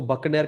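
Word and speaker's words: Buchner: सो Edward बचनर, ठीक है, Edward बचनर एक साइंटिस्ट है। एडवर्ड, हम ऐसे ही नाम लेते हैं भाई, आप लोग इसको बकनर कहिए, एडवर्ड बकनर ऐसे प्रोनाउंस करिए, आई डोंट केयर, बट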